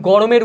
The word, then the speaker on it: গরম: যেমন গরম, এইটাকে আমরা উচ্চারণ করছি রয়ের সাথে একটা ওকার উচ্চারণ করছে, কিন্তু বানান করার সময় কিন্তু ওকারটা আমরা দিচ্ছি না।